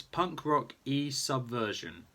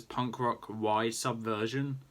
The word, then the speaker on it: Punk Rock Y Subversion: And I know Luke's is going to pronounce it as Punk Rock Y Subversion, but that's because he didn't do. I'm guessing he didn't do some Spanish. And the word "and" in Spanish is "e", and it's spelled as "y". That's literally it. And that's why I say Punk Rock E Subversion, because that's what it is.